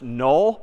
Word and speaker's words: NULL: Confusingly, in a couple of weeks, we're going to see another word pronounced null, but spelled N-U-L-L.